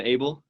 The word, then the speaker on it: Abell: Everybody, this was Abell, rhymes with table, and she is running for the Utah House of Representatives District 5, running against the incumbent Casey Snyder.